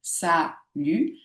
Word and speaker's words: salut: Le fait qu'il y ait un thé à la fin du mot salut n'en fait pas du tout euh ne fait pas de la deuxième syllabe une syllabe fermée. Ça lu, ce sont deux syllabes ouvertes.